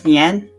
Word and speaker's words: Nian: Also, did you say his name was Nian? Yeah. Like Nyan Cat? N-I-A-N, not N-Y-A-N, N-I-A-N. Slightly different, but sort of the same, yes. So that's kind of like,